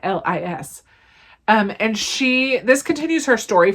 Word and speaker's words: Eilis: I don't know how to say it. It's Irish. Eilis.